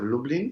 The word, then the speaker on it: Lublin: it's the city of lublin so it's like dublin but with an l now lublin has a